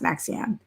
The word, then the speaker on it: NXIVM: Is it Nexium or what was the name of the I think it was called Nexium, but I think it's NXIVM, Nexium, but pronounced Nexium.